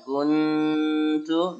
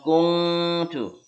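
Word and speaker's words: كُنْتُمْ: Jadi yang akan difokus di sini adalah bacaan kuntu dan qauman fa. Menyebut kun tapi siap-siap tu mulutnya. Kuntu. Bukan kungtu.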